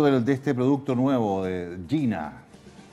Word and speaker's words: Gina: Cuéntanos un poquito de este producto nuevo, de Gina. Supongo que se pronuncia así, ¿no? Sí, Gina.